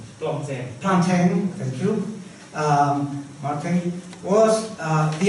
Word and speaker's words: Plantin: Christophe Plantin, I don't know how to pronounce his name. Plantin, thank you.